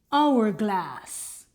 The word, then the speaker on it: hourglass: This is silent. An honor and air. Silent H. An hourglass.